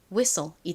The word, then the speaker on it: whistle: 그런데 이렇게 wh가 들어가는 단어를 한국식으로 읽을 때는 히읗 소리로 잘못 읽는 경우가 굉장히 많습니다.이 단어 역시 한국에서는 whistle이라고 표기하지 않고 보통 휘슬 이렇게 말하시는 경우가 많아요. 정확한 영어 발음은 휘슬이 아니라 whistle이라는 거 잘 기억해 두세요.이 단어의 의미가 뭔가요?